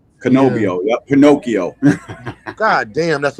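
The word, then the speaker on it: Cannobio: Canobio. Canobio.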